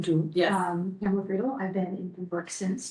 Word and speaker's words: Pamela Friedel: now, let's just quickly go around, starting with Pamela Friedel. Do I have the pronunciation You right? do. Yes. Pamela Friedel, I've been in Pembroke since 2000.